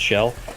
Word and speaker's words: Xel: XEL, pronounced shell.